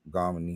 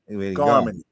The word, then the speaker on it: Garmony: Garmony. I know. No. It's like Harmony with a G. Garmony.